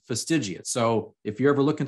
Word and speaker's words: fastigiate: just a year ago, I pronounced that word incorrectly. For some reason, my brain ignored the second I in fastidiate and I pronounced it fastigate.